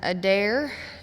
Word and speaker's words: Adair: My name is Adair. A D A I R as in I dare you to say my last name wrong.